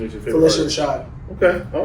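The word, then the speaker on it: Phylicia: But yeah, so Miss Felicia Rashad, and that's how you say it, Felicia, not Felicia. It's Felicia.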